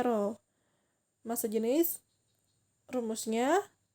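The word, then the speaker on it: rho: jenis itu simbolnya itu seperti P kecil ya tapi miring terbacanya roll Mas sejenis rumusnya =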